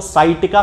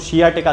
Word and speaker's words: sciatica: खास तौर से जो पेशेंट हैं वो हमेशा शियाटिका को साइटिका साइटिका बोलते हैं। तो ये साइटिका एक जनरल प्रोनाउंसिएशन अब इसका बन चुका है, वैसे यदि देखा जाए तो इसको शियाटिका कहना चाहिए।